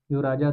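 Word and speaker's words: czar: लेकिन यहां यहां की जो शासन व्यवस्था थी जो राजा थे रूस के राजा को जार बोलते हैं। यह हमेशा याद रखिएगा। जार का spelling C जेड ए आर जार इसको याद रखेंगे।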